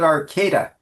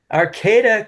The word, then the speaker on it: Arcata: So welcome, Kevin Frank, uh, from Arcata, is that how you pronounce it? We call it Arcada. Arcata, California.